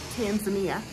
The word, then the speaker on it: Tanzania: That's how they pronounce it here in Africa, Tanzania. Not Tanzania, Tanzania.